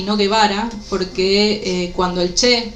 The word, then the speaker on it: Guevara: y entonces dijeron, "Bueno, si los egipcios dicen Guevara, debe ser yvara seguramente y hasta el día de hoy, incluso en Egipto, se sigue diciendo llevara.